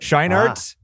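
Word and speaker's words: Scheinert: Scheinhardt.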